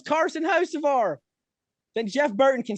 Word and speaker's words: Hocevar: When he says there's a car in the wall, he follows it up with Hocevar. If Dale Jr. can say, "Oh, we got a car in the wall, it's Carson Hocevar," then Jeff Burton can say it too.